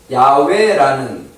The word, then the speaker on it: 야훼: 이거는 야훼라는 발음이 야훼라는 발음이에요.